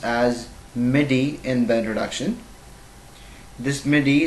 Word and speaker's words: MIDI: following ones the first one is that i pronounced as midi in bed reduction this midi the full form